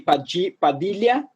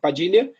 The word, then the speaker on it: Padilha: of LL, it is spelled with LH. And LH in Portuguese sounds like LI. So people would say Padilha in Portuguese, but Padilha.